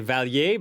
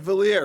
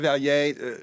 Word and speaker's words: Vallier: I wanted to say Vallier, but your Instagram says it rhymes with queer. Is that Vallier rhymes with queer. Okay. In French, it's Robert Vallier.